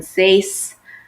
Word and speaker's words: seis: a treinta y 6 they all have an e I together and typically in Spanish will pronounce both vowels but in these cases we don't so notice when we say c8 Day we say two vowels but in seis it doesn't sound natural when you do so we have 20